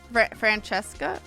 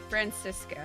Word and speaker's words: Franziska: Francesca? Is that how you say it? Franziska, I think. Franziska.